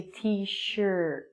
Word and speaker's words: T-shirt: People would wear a t-shirt, and the pronunciation of this word is just like the letter T, and it sounds like shirt. It's actually pronounced like an sound, so we say t-shirt.